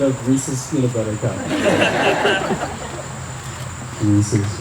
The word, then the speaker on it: Reese's: Reese's rhymes with pieces.